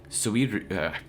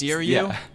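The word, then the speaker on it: Suiryu: Especially with Suiru, man, I can't pronounce his name. The one really good martial artist who ended up winning the tournament. Oh, yes, Suryu?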